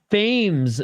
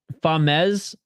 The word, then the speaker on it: Famez: Alvarez, his name, Famez, his nicknames pronounced Fames, not Famez.